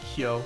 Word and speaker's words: Hyo: Apparently it's like Hyo. That's like one syllable.